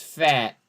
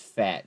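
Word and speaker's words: phat: scholar it's Mom goes it's fat p-h-a-t ee she says she's cool that's funny uh but no yeah rocket girl goes it's fat it's spelled differently though but here's brds right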